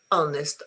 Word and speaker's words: honest: Um there are four words where you do not pronounce the h at the beginning. E, honest, honor and okay.